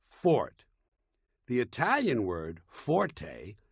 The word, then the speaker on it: forte: point is not pronounced Forte got that it's pronounced Fort the Italian word Forte f o r t used in music not